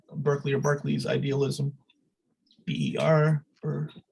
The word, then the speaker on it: Berkeley: Berkeley, who I'm just pronouncing the UK because Justin's here, and that was original pronunciation.